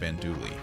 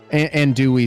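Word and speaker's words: andouille: a big fan of andouli i the l is silent in that word it's ish it's it's a hat and i've only ever heard and dewey sausage um but anyway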